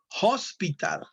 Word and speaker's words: hospital: okay thank you fatima the thing here is that hospital the h sounds like a j a kisi suena comuna